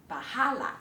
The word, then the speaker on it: bahála: nagwáwalang-bahála Bahála. The stress is on the há.